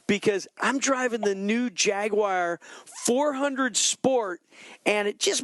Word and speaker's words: Jaguar: I mean, now, did I say it right, Mike? Did I say it right? Jaguar? No, that's really, yeah, you said it wrong. It's Jaguar.